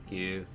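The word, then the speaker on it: ぐ: You pronounce it as Gu, right? Q as normal, and then add Dakuten marks in the position shown above.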